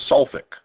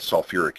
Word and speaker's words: sulfuric: So they decided, no, for sulfur compounds, we're going to keep 2 syllables. And we're going to call it sulfuric acid.